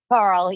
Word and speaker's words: Carle: Your last name is pronounced Carl, right? Carl, yes, but the media seems to have dropped my last name.